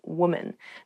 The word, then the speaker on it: woman: Even though the singular and the plural form of women and woman have the same spelling at the beginning, W-O-M, the pronunciations are different. Woman, women.